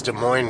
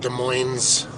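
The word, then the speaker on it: Des Moines: At least the GPS lady says De Moines, right? Doesn't pronounce it with an S. De Moines. My friend Dave calls it De Moines's.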